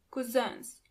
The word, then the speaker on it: Cousins: Onkel und Tanten, 9 Cousins. Do you hear the pronunciation of the last word? Cousin in plural, you have to add a French pronunciation to it.